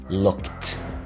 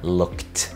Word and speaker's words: looked: لو الفعل اخره k زي look في الماضي looked looked، لو الفعل اخره f